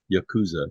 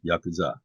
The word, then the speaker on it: yakuza: say the Japanese words it's not Yakuza it's Yakuza it's not Katana it's katana